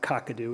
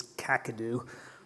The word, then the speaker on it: Kakadu: first thing he says you need to learn how to say it's not kakadu it's kakadu um and then i